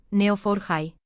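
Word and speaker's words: Neo4j: Por un lado, aparece el conocimiento estructurado que puede representarse en un grafo, por ejemplo, con neofor high pronunciado neofor high.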